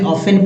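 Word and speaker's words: often: ऑफ ही होगा जी दोस्तो T silent है इसलिए ऑफेन पढ़ेंगे ऑन टी को नहीं पढ़ना है ऑफेन तो कुछ बातें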